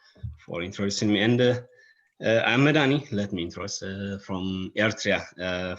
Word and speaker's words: Medhanie: And I'm Medhanie.